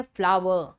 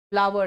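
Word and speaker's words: flour: और दोनों का प्रोनंसिएशन है फ्लावर। फ्लोर नहीं है वह फ्लावर है।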